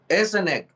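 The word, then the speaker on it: СНГ: And here you have to read it as in the alphabet. Okay. S, C, N, G. S and G. S and G. S and G. All abbreviations are read as they are in the alphabet, because in English sometimes they are read not like in the alphabet, In Russian, it's always the rule.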